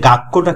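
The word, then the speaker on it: 学校: এরপরে ছুটা, ছুটা হচ্ছে কি, ছোট ছু যখন হয় পরে একটা ডাবল উচ্চারণ হচ্ছে। হ্যাঁ, গাক্কো, আর শেষে যে উ আছে, এই উর কারণ আরো লং ভাওয়েল, এটা টানা উচ্চারণ হচ্ছে।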